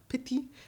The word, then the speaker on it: petit: Petit. The T is silent.